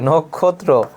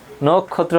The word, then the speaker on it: নক্ষত্র: এটি হচ্ছে বানান, এর উচ্চারণটা দেখো কি হবে, নখ হবে, নখ, তারপরে ক্ষত্র হবে, নক্ষত্র, নক্ষত্র হবে।